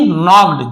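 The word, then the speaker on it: knocked: धीरे से नॉक्ड यहां पे के आपको साइलेंट मिलेगा। पढ़ते हम उसे नहीं है। लेकिन लिखते समय आपको लिखना है साइलेंट लेटर है के।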